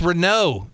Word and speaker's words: Renaud: this works out but Renaud is pronounced were no in French and it means the Fox I almost made it you